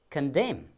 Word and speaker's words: condemn: The next word given there is condemn. Please follow after me. Condemn. What is silent over there? The letter N is silent there.